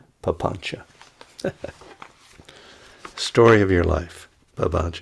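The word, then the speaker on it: papañca: ch in in poly p a p a n c a papancha story of your life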